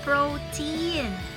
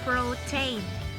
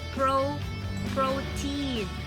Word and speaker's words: protein: So most of my students would say protein. Should not be, guys. Should be protein. Alright? They usually pronounce the vowel sound, the A. They say A, should be E.